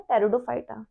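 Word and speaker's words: Pteridophyta: ठीक, दूसरा है ब्रायोफाइटा and third is टेरिडोफाइटा, P silent है, टेरिडोफाइटा।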